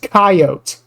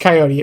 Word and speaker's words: coyote: It doesn't look like it sounds.